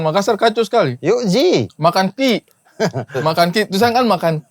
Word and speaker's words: Makan Q: Makan ki. Makan ki. Tulisan kan makan Q. Makan ki. Sebenarnya tuh bacanya makan ki kayak orang Makassar.